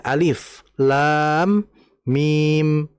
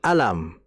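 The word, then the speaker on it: الم: Kayak tadi saya contohkan alif lam mim kita harus membaca sesuai dengan ejaannya alif lam mim bukan alam ya karena secara zahirnya itu alam.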